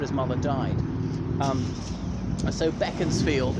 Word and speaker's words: Beaconsfield: mother died I so beckons field is not pronounced Beaconsfield back into the town of